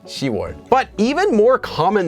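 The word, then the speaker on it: 시월: pronounced as shim yuk another one is also that the months for June so the month 6 as well as the month 10 so October are actually U and shiar so not yuk or ship but yuar and shiar but even even more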